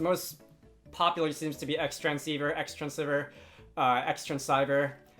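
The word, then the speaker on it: Xtransceiver: a little pronunciation H by spelling it out cross transceiver so uh that's the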